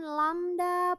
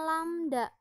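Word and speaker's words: λ: dituliskan bahwa V = lamda pertek ini dibacanya lamda lamda itu adalah panjang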